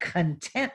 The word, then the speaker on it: content: my English learners because that word content, when you emphasize the wrong syllable, it will change the meaning. So we're going to say content, students, where they accent the second syllable. If I say content, that means your materials and your belongings, but content means happy, satisfied.